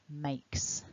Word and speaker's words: makes: Third person then, makes. Because the word make ends in that lovely k, we don't voice the ending.